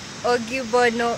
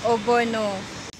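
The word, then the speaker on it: ogbono: let's a gay and i was pronouncing it as augie bono and they just looked at me it is obono this one you shouldn't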